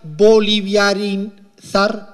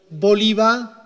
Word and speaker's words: bolivarizar: me sale el término, sería boliviarizar la economía. ¿Se me entendió? Bolivarizar, esa es la palabra impronunciable.